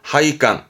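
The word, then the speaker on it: 配管: 하이깡, 하이깡.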